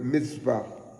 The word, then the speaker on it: mitzvah: We said commandments is the Hebrew word mitzvah. And it's spelled mitzvah, M-I-T-S-V-A-W, mitzvah.